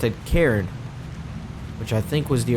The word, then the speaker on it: Cairn: So he pronounced it Cairn, which I think was the original pronunciation I was going with.